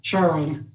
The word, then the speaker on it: Charon: through the years, now I just automatically say Sharon.